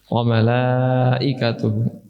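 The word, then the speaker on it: ملائكته: Malaikah, berapa harakat bagi lam itu? Lima sampai enam. Ada lagi? Ya, empat sampai lima, atau empat atau lima. Empat atau lima harakat. Nah, sebagian besar dari kalian membacanya lebih dari enam harakat, makanya napas kalian tidak cukup. Wa malaikah sudah empat harakat. Jika Anda menginginkan lima, cukup tambahkan sedikit lagi.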